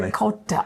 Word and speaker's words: ricotta: And apparently I'm not pronouncing ricotta in the Italian way. And that's because we're in America. How do you say it in Italian? Ricota.